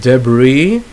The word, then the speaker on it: debris: Then you have debris. When there's a building construction and then there's a sign there that says watch out, falling debris. So it's not or falling debris. So it's a silent S.